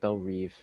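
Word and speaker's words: Belle Reve: it i also uh what is up with them pronouncing it belle reeve i don't know because i've always said yeah they say it in so many mediums like young justice it's belle rev yeah um older like it's all like the new stuff like i don't know if they're like oh now it's actually pronounced like belle reeve but it's like it's spelt rev it's r-e-v-e correct yeah is it only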